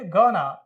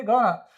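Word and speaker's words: gonna: तरह से गोइंग टू गोइंग टू को जब प्रोनाउंस करेंगे तो क्या प्रोनाउंस करेंगे गोना कम ऑन क्या प्रोनाउंस करेंगे गोना आई एम गना टेल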